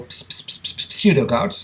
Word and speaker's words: pseudogout: P is for pseudogout, it's a misnomer there. P is silent.